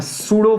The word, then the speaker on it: pseudo: you always apply a pseudo force a pseudo force f p p silent p s e u d o p is silent that's how it's pronounced it's always opposite to